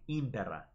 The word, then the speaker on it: impera: Let me bookmark impera. I would say this is pretty much perfect. I think they're pronouncing this exactly right. Impera.